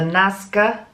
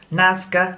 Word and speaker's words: Nazca: showed me this morning was the excuse my pronunciation if I get this wrong the Nazca lines in Peru don't ask the way pranaya pronounce it na Zed CA Nazca lines in Peru we've probably all seen those